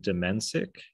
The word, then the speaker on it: Domencic: Today, we're going to talk with Domencic.